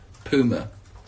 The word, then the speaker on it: Puma: tracksuit that I have on that's right kids Puma nobody in England who like me for pronouncing it that way but I spoke to